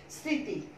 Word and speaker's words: স্মৃতি: ফলা ঋকার তরস্বীকার, স্মৃতি এখানে আমি যখন লিখব উচ্চারণের বানান লিখব তখন আমি লিখব দন্ত স দিয়ে ঋকার দিয়ে একটু আনুমাসিক উচ্চারণ করব, স্মৃতি, দেখো আনুবাসিক উচ্চারণ করেছি স্মৃতি, এটাকে এভাবেও লেখা যায়